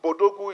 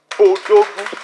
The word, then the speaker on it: Bodogu: So I don't want us to start pronouncing it as an English acronym. It is African, it is Nigeria, it is Bodogu. So when you pronounce it, don't call it B Odogu.